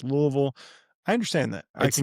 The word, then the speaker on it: Louisville: Being from Louisville, not Louisville, not Lewisville, it's Louisville."